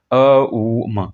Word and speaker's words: ओम: Starting में ओम है, ओम का उच्चारण ओम ना कीजिए, अ उ म ऐसा कीजिए।